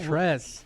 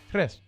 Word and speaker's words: tres: You say tres. Yeah. You don't roll the R. You do roll the R. You don't, though. That's my point. Tres.